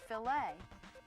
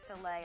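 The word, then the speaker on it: filet: If you're speaking about meat cookery, the French word f i l e t. It's pronounced filt. And that's the proper way to talk about a filt of beef.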